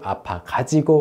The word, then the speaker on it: 가지고: It changes to 아파 가지고 못 왔어요.